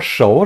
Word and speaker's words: 熟: 熟 라고도 발음하고 熟 라고도 발음을 합니다.